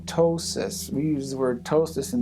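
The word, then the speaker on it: ptosis: That's what we call tossis. We use the wordtosis in the medical profession. Tossis spelled with a P. The P is silent.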